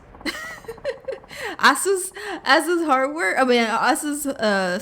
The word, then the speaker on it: Asus: Yeah, it was like a Windows update that conflicted with the how do you pronounce this? Asus? I say Asus. Asus.